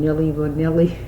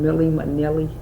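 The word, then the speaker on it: Milli Vanilli: Why I say that is because I'm hearing oh, I'm saying it wrong, Nilly Vanilli, I'm saying it wrong, Millie Manilli, they got dreadlocks, right?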